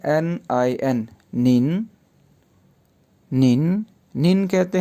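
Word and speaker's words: 您: है उसके लिए जो चाइनीज़ है वो है निन। टीचर को हमने प्रोनाउंस किया लाओ शेर, लाओ शेर।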